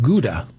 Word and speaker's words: Gouda: And so the shop attendant says, "Well, we just got a new shipment of Gouda."